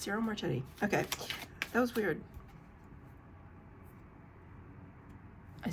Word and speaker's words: Ciro Marchetti: For some reason, I thought I got his name wrong, even though I've said it now like 12 times. No, it's Ciro Marchetti.